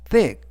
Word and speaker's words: thick: 뜻이 되겠습니다 이번 단어는 thick thick thick라고 발음하시면 되겠고요 이때 앞부분에 있는는 번데기 발음 뜨 그리고 품사는 형용사 뜻은